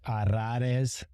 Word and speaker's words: Arraez: The double R, the accent on the A Z at the end, a couple vowels slung together, A and an E.